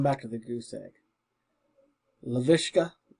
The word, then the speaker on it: Laviska: Laviska. Laviska. I've been saying Lishka.